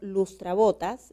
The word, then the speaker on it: lustrabotas: Entonces, cuando yo silabeo lustrabotas, la sílaba tónica se encuentra en bo, por lo tanto no requiere de acento ortográfico porque termina en una S, es como una grave.